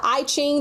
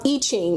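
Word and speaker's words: I Ching: It also uses the I-ing the ancient code of change. Um Iching is how it's pronounced.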